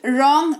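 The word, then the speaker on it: wrong: तीनों ही शब्दों में रिस्ट रॉन्ग राइट, डब्लू है शुरुआत में, उसके ठीक बाद आर लिखा हुआ है, जो कि इस रूल को फॉलो करेगा, जिसके तहत डब्लू का उच्चारण नहीं किया जाएगा। इसको रिस्ट रॉन्ग राइट ये पढ़ा जाएगा।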